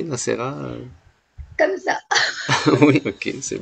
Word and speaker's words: Nacera: Est-ce que j'ai bien prononcé Nassera?